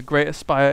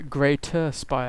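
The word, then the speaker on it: Greater Spire: the same time a great aspire is on the way sorry greater spy i must pronounce my t's and otherwise my dad would shoot me in the face and what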